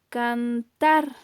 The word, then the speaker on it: cantar: dónde está ese acento y entonces pronunciamos cantar la mayor intensidad de voz recae en la última sílaba y ahí la tenemos